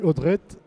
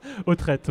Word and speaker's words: Autret: de la Réunion Alexis odudret bonjour bonjour je l'ai pas je l'ai mal prononcé à force de le dire au au trite au trite vous êtes ingénieur chez